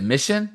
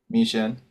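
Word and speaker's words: Michin: Uh Was it Mission? Is that how you pronounce her name? Miesha.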